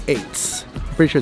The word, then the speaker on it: Ates: restaurant that we want to check out called eights i'm pretty sure it's pronounced ates it's pronounced attace apparently it's a turkish word for fire is